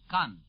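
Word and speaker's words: Caen: 40 Mi Northwest of k k by the way is spelled CA n it is near e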